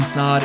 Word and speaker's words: Snod: rhymes with odd podcast my name is snod it rhymes with odd and we'll see you